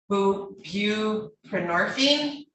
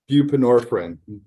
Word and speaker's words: buprenorphine: prisoner you did possess who view prenorphine I can't do it either you're on buprenorphine I know I mispronounced that controls up what is it buprenorphine yeah a controlled substance